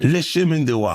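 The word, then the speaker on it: Le Chemin du Roi: Speaking of, how the hell you pronounce Lechem? Le chemin de roi.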